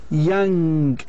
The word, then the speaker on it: young: the letters number six Young in English by the way the native speakers they don't pronounce the last G they don't say playing like in Arabic they say play play Young so the gate is